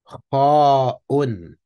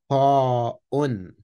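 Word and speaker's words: خاء: And to describe the way I am pronouncing this letter, think about if you are coughing up or you're clearing your throat or you're trying to cough up mucus, for an example.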